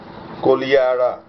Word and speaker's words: Kodihara: It's spelled Kodihara, but it is pronounced Kolihara. Kodihara, and it is exactly 5.5 kilometers southeast of Hathiyama, just as Huen Tsang had prescribed.